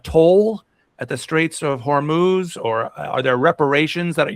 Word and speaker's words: Hormuz: want to ask what's the correct way to pronounce it? Some people in the USA say hormos or hormuz do you say straight of horm straight. So that's it. Hormuz American media saying horm.